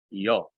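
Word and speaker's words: υἱῷ: Doxa, patri, ke, yo. Yeah, remember, don't pronounce that iota subscript.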